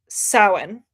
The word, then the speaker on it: Samhain: I wanna pronounce it Samhain because that's how it looks. Samhain, I think is how it's pronounced, and that is the Wicca or pagan holiday.